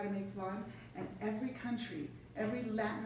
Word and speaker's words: flan: We say flan because in Spanish it's flan. It's, so it's like if you put a W in there somewhere like F-L-A-W, there's no W, it's just F-L-A. So it's flan.